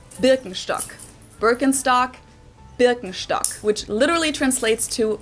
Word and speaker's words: Birkenstock: the world nowadays and it's natural that people pronounce it with their native accent so English speakers usually say burkenstock in German we say bstock Birkenstock bstock which literally translates to Birch stick the